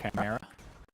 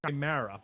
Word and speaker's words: Chimera: Eighth gets mispissed when I mispronounce Chimera. Yeah, you keep pronouncing it Chimera. The emphasis is like you're supposed to pronounce the C like a K.